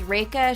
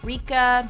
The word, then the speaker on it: Rekha: stories about how their names are difficult to pronounce for English-speaking people. My name is Rekha. Not Rika, not Rekha, and definitely not Rachel.